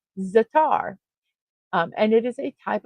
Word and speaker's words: za'atar: You pronounce Z A apostrophe A T A R as zatar.